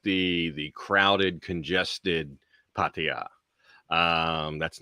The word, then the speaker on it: Pattaya: you're so known as like the ambassador of Pattaya, you know. And I love it, first of all, because you say it the right way. So you don't say it like the lazy English way, like Pattaya or Pattaya.